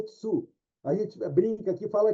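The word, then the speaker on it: つ: Isso aí é um tsu, a pronúncia é tsu.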